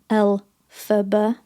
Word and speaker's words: Elphaba: So he's using the phonetic pronunciation of his initials, so LFB or Elphaba. Do you get it? Elphaba.